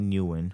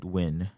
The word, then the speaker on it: Nguyen: if you can go back and tell Chad Nguyen or Chad Nguyen, Hmm. that's how you pronounce it, right? Right. Chad Yeah. Nguyen.